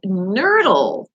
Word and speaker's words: nurdle: Source it's called a nerdle what the hell a nerdle and it's not spelled like a nerdle like a nerd that we would think in ER it's n-u-r-d-l-e all right it says